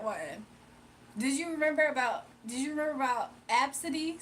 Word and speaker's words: Abcde: The other one, her name was Absidy, but her name is spelled ABCDE. Her name is Absidy.